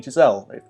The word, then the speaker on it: Chazelle: I just watch lala land from director Damien Chazelle that's how you pronounce his name and it was pretty great